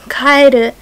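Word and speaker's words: 帰る: So Kaeru means frog, and Kaeru, which might sound the same to some people, but it has a different emphasis on a different syllable in Japanese.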